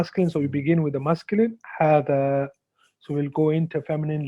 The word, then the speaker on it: هذا: So appear like this, but it's actually pronounced هذا, like this. So as if there's a what? There's a alif. This is a alif mad. So you elongate.